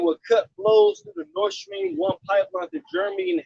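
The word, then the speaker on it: Nord Stream: prom said it would cut blows through the north stream one pipeline to germany and half to just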